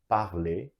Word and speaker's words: parler: in freiner, ER also, so all the ER verbs are pronounced at the end as E, so parler.